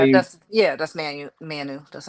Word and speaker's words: Manu: Is that how you That's Manu. That's how you pronounce Manu?